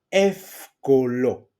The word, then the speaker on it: εύκολο: see my pronunciation, and εύκολο. So they are pronounced as af, f.